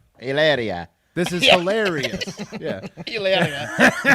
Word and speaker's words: Hilaria: Hilarious Baldwin? Yeah, Hilaria Baldwin. Hilaria, it just instead of the O-U-S, it's an I-A. Yeah, that's her name. Hilaria.